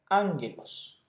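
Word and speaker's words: ἄγγελος: podemos ver la palabra anglos mensajero esta palabra se traduce como mensajero o como ángel en este caso la primera gama se pronuncia como la n en español ángulos es decir de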